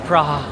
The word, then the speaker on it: Praha: train station is called PR baka yun yung pronunciation hindi English PR so we made it to praha um Ayun lang ay labas na agad no